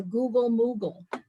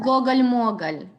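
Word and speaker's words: gogol-mogol: So I wanted to ask Maya what she knows about the Google Moogle. It's pronounced Gogol Mogol.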